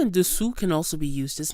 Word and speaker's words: dessous: First of all, note the difference in pronunciation. Dessus with an U sound, and dessous with an OU sound. Dessus, dessous. U, OU.